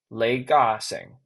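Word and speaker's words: 李嘉誠: His name is uh oh, in Cantonese, his name is Lei Ga-seng.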